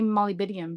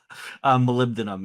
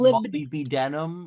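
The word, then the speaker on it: molybdenum: but then like I did want to say malibidium because it I just love saying is it malibidium? Am I pronouncing it correctly? Uh malibdinum is how we we tend to refer to it.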